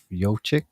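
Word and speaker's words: Jokić: How do you say his name? Jokic, right? Yochik.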